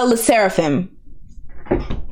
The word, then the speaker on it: Sserafim: It's Sserafim.